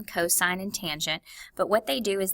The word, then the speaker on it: tangent: tangent and of course it just looks like the word tan but it's tangent okay now these formulas